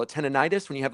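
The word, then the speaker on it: tinnitus: Tenonitis. When you have like that ringing in your ear, tenitis. Yeah, tenidis is the technical pronunciation.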